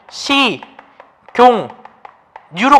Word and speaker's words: 식용유: 자, 식용유 이랬을 때, 자, 식용유 같은 경우 발음해보면 시, 경, 뉴로 갔어요. 뉴.